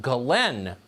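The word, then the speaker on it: Ghislaine: crimes including sex trafficking her name apparently is pronounced Galen Maxwell spelled jiz Lane you know who she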